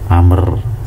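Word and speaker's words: عمرو: baik, min amrin, dari amr ya. Jadi ini bacanya amr ya, kalau ada ain, mim, ra, wawu itu amr. Kalau nggak ada wawunya bacanya umar malah.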